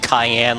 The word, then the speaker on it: Cayenne: Yeah, cuz it like his his it's it's like with the translation his name's kind of abbreviated, but it is like Cayenne like cayenne pepper.